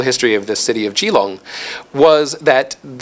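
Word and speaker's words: Keelung: particular city in Taiwan, the city of Kong or Gilong, uh, to use the Mandarin pronunciation.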